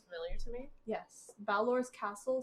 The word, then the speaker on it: Balor: How do you spell that? B-A-L-O-R. B-A-O-L-R. L-B-A-L-O-R. Yeah. Does that sound familiar to me? Baylor? Balor. So I got a question. There's no Baylor.